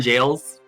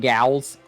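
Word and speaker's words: Gaol: Pokemon jails. Pokemon gals. No, it is it is actually pronounced jail.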